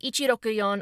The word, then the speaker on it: Ichiroyon: And finally, we wrap things up with Ichiroyon or Hiroshi, aka 164. Hiroshi is his given name, and the kanji for 1, six, and four can be read with the same pronunciation.